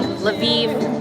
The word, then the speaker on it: Lviv: Lvov is Russian, Lviv is Ukrainian.